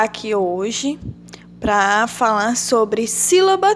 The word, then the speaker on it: sílaba: Por exemplo, a palavra sílaba. O si está acentuado. Então, a gente já sabe que o si de sílaba é a sílaba tônica.